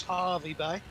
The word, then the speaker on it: Hervey Bay: now from y-u-r-r all right now we're approaching hervey bay is that right ours is that how is that how it's pronounced no top place but nicely guys harvey bay um and it's the uh the whale watching